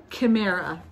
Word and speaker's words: Kimera: Handmade by Kimera.